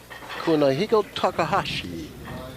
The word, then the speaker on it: Kunihiko Takahashi: Well, there's a fellow here from uh Osaka, Japan, and his name is uh Kunihiko Kunihiko Takahashi. Is that the right pronunciation?